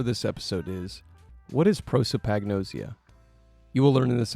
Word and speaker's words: prosopagnosia: The question for this episode is, what is prosopagnosia?